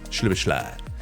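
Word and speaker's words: Szoboszlai: Honestly, I'm glad that the commentator said his name, because when I saw that, I was like, how on earth do you pronounce that one? But yeah, it's Shibashly.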